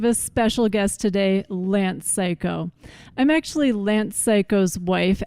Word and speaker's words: Cayko: carry off the name psycho and yes if you're new it's psycho as in psycho killer it's it's spelled c-a-y-k-o but it's pronounced psycho it's edgy it's very